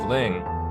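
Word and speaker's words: 灵: Let us look at the Chinese character for efficacy or spirit, which is pronounced Ling.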